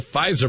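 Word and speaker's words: Pfizer: I learned guys that the fizer brothers were from Germany cuz it rhymes with Kaiser well yeah uh hot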